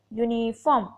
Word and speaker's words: uniform: इसी तरह यूनिफॉर्म, यूनिफॉर्म में भी अगर हम प्रोनाउंस करते हैं तो यूनिफॉर्म यूनिफॉर्म, ठीक है।